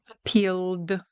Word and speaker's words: appealed: Appealed, appealed, because we've got the L, and so we just put the D on the end, not appealed or appealed.